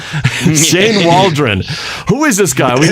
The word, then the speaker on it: Waldron: And this remember it rhymes with Cauldron. Shane Waldron.